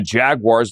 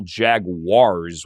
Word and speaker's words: Jaguars: The Jaguars look like a playoff team. Frank, are you buying the Jacksonville Jaguars, which is the proper pronunciation, not Jaguar?